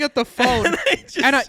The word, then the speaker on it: pho: Oh, did And you been say corrected faux and a somebody lot. was a douche and was just like, You it's know? actually pho.